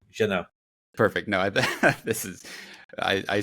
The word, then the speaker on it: Jeunet: You don't pronounce T's in the French language, so Jeunet.